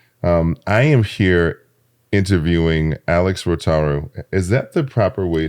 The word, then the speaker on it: Rotaru: I am here interviewing Alex Rotaru. Is that the proper way to pronounce it? You nailed it. I did. Absolutely. The accent is on the A.